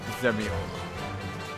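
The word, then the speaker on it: Dzemael: The D is silent. Zemiel.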